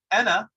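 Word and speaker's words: أنا: So we had ana, which was I. That's written with a hamzat al-qata' and a noon, and this placeholder alif, which actually is a silent letter.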